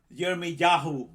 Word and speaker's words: Jeremiah: came to me asking jeremy yahoo because this is how you say it in hebrew we say jeremiah jeremy yahoo what do